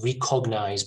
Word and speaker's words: recognize: recognize this is pronounced recognized by a lot of people but it's red the stress in the first syllable recognize re-kick nice alright